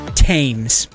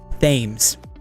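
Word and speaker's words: Thames: Tames like the river. Tames river. Thomas, right? Why isn't it themes? Why isn't it Thomas? because I believe in this case it descends from a different um old runic uh an a different type of rune and it just ends up getting transliterated as th Oh yeah, then there's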